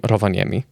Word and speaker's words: Rovaniemi: So you're originally from Rovaniemi. Yes. And am I even remotely properly pronouncing that?